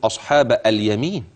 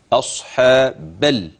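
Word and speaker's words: أصحاب اليمين: اصحاب اليمين اصحاب اليمين اوعى تقول اصحاب اليمين لا اصحا بل بل من الباء في كلمه اصحاب الى اللام الساكنه مباشره سمعك بتقوللي في الف في الوسط ده الف الوصل الالف ده لا ينطق الا عند البدء بالكلمه ايوه ده اللي متابع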